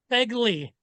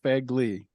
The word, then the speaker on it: Fegley: the proper way to say your last name peggly okay fagly yeah owner of the shop Inc man I opened the shop in uh 2001.